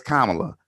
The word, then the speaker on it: Kamala: Her name is Kamala, because people mispronounce my name consistently, and it's annoying.